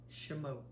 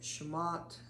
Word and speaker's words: Shemot: be covering um um this week is called shamot I believe I pronounced that correctly um I was pronouncing it shamat and then I was ired by my beautiful wife but um in this